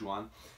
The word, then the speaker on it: Joan: His first name is spelled Joan, but I think in Catalan it's Juan.